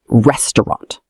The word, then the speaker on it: restaurant: Many people say restaurant. Three syllables. Restaurant.